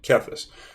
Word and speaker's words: Kethis: same is kept this because my last name is Keith there's a high after EE so that's how I'm pronouncing caphis if you lose EV